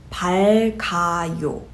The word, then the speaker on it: 밝아요: So the way you would pronounce this is 밝아요. The reason behind this is because the vowel 이응 does not have a sound value. Therefore, you can roll over the previous sound value from the double final consonant, and by doing so, you're able to pronounce them more naturally.